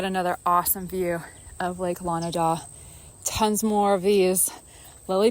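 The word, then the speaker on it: Lonidaw: How do you say the name of the lake? Lanida. Okay, Lake Lanida. So I was totally saying Lanada or something.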